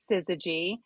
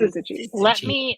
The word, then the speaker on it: Syzygy: Tell us how we should pronounce their name. Their name is Syzygy, and Syzygy.